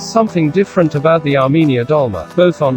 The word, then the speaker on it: Dolma: Dolma, pronounced Tolma in Armenia, dolma is another dish you may recognize and think you know.